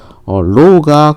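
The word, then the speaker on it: ρ: low가 큰 물질은요, 비저항이 큰 거니까 얘는 부도체 계열이고요.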